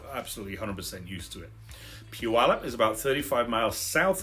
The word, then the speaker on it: Puyallup: p u l up Puyallup the Pu is pronounced together like the Japanese pronunciation Pew this is what I've been told so Puyallup not that he's not